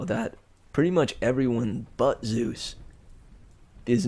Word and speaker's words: Zeus: how do you say Zeus it's like Zoo like the New York Zoo where they keep animals with an S sound at the end Zeus rhymes with Caboose or couscous or juice Zeus juice closing Olympus is